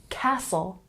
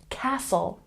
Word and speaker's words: castle: the silent T and you'll know that the t is silent if it's spelled in words with t l e or t n so